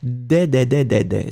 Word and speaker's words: des: If it was the masculine, I would pronounce de. But in that case, it was clearly des. So, des should be written D-E-S.